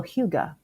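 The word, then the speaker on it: hygge: Danish this holiday season and try a little Huga.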